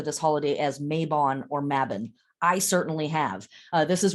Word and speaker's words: Mabon: about the name of this holiday mavin it's pronounced here in America maybon a lot um mabin is the correct pronunciation and what we are